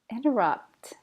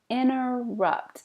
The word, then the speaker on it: interrupt: This is a fun one because sometimes we say the T and sometimes we don't. Interrupt. Probably I personally don't say the T. Interrupt. Don't interrupt. I need to interrupt. Inner. But other people, you can hear it.